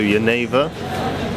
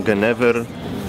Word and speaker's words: Genever: Lokalnie wymawiają to Genève. Pisze się Genever, Polacy mówią Genever albo Genever.